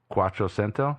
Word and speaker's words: Quattrocento: Quattrocento.